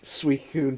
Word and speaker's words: Suicune: How the hell do you pronounce Suicune? Suicune, Suicune.